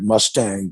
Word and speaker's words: Mustang: region called mustang m-u-s-t-a-n-g looks like mustang but they pronounce it mustang and um this has been an independent tibetan kingdom since 1380.